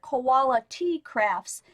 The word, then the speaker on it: Koala Tea Crafts: to look for because it sounds like quality, like you know, good, solid, great stuff, but it's actually spelled like the koala bear, koala tea crafts.